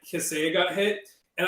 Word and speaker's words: Kaseya: I made like a video back whenever like Kaseya got hit, and I mispronounced Kaseya. I was pronouncing it like Kasaya or something.